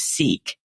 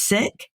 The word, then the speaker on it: Sikh: I always thought that it was seek, but it's sick.